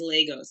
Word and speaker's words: Lagos: Because a lot of people say Lagos in America, and that's not right. It is Lagos. So thank you for saying it correctly.